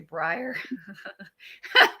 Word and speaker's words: Brier: it I think it's called a Brier Hopper but with a Middletown accent it sounds like bra Hopper so I thought growing up I was a bra Hopper but I'm not because that's not a thing I realized much like within the last five or 10 years that it's actually Brier so I went around